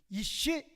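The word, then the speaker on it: ish: 똑같은 단어인데 여성 발음만 들어가는 거예요. 이씨, 이샤.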